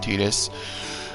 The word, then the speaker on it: Tidus: Yes, I pronounce it Tidus.